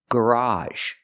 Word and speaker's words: garage: The second pronunciation is a in the word garage. It's an open sound ah like hot and stop plus a sound.